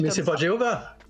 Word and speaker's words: Jéhovah: pas Jéhovah. Attention, ça s'écrit Yahvé. Alors tu le trouveras avec un V, tu le trouveras avec un W, mais par contre, ça se prononce Jéhovah.